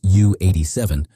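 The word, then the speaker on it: Ju 87: The early Junker's J87A, pronounced U87, marked the prototype phase of what would become Germany's most famous ground attack aircraft.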